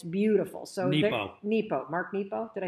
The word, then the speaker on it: Mark Nepo: Mark Nero was fighting cancer when he wrote this. And it's beautiful. So Nepo. Mark Nepo.